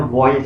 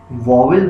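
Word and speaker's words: vowel: इसको जो प्रोनाउंस करते हैं उसको बोलते हैं वॉयल साउंड्स। हम वॉवेल बोलते हैं। आई एम नॉट सेइंग कि ये रॉन्ग है, but that is an Asian style. Actually English के अंदर इसको वॉयल साउंड बोला जाता है।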